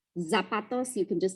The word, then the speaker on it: zapatos: So Z's sound like S's. They're just S's. Nariz. So like when you want to say shoes and you're saying zapatos, zapatos, you can just say it like an S, right?